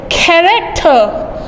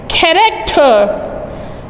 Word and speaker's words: character: The correct pronunciation for this word is character. Character.